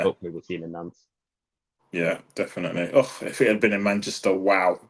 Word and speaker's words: Nantes: I was thinking, how do you pronounce it? But there you go, Nance.